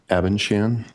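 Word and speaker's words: Abendschan: the record my name is or abenchan uh last name is spelled a b e n d s c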